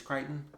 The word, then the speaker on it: Crichton: I want to say it's Crichton, because I don't believe you actually pronounce the CH.